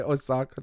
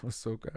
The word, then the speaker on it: Ahsoka: Osaka osoka Oka um I always want to say Osaka Japan Ahsoka I have to say it now to make sure I say it right Ahsoka um but I